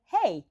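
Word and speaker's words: hej: Well, I'll say, hey, no, that's how we say hey, but H-E-J is how you spell it in Swedish, Swiss, Sweden, with the two Switzerland.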